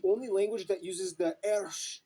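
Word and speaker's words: ř: The interesting thing is that Czech is the only language that uses the ersh letter that makes the dr sound.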